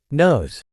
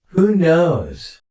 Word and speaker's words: knows: about a future event notice the ending sound in the word nose nose knows who knows who knows who knows who knows